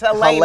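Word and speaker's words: Jeļena: It's with the J, but it's Helena.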